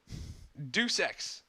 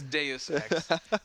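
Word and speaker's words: Deus Ex: finally on the Colo already sponsored rer report Dux also it's often mispronounced as de X Human Revolution finally has a release date look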